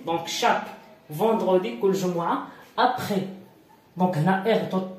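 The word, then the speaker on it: après: ابخي اس لا تنطق في الاخير.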